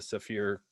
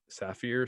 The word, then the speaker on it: Saphir: familiar with uh the saphir cordovan cream and i think i always pronounce this wrong sapphire saphir but we polish all the